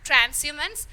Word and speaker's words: transhumance: So here H is silent and we will pronounce it as transhumance, and it is the